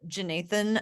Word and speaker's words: Jeenathan: Well, so I'll go ahead and tell you about Jeenathan Williams, Nate Williams. He goes by Nate, although it's JEE Nathan Williams.